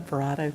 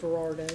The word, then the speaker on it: Verardo: First, I'd like to express my sincere condolences to the Verado, did I pronounce that right? Yeah, Verardo. Verardo, pardon me, family, for his dedication